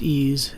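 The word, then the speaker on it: EES: e which is pronounced ease is an acronym for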